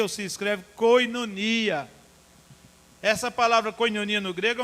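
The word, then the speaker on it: κοινωνία: palavra que no grego e se pronuncia ou se escreve koinonia essa palavra coelho no Grego é uma palavra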